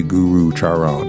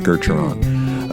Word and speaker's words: Gurucharan: so enjoy the program Geron sing kalsa the second U is silent and so you do not say Guru Charon it's Geron uh a Northwest Native